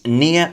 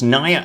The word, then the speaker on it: Nya: The second minifigure is Nya, and definitely not pronounced Nya as I called her in a previous video.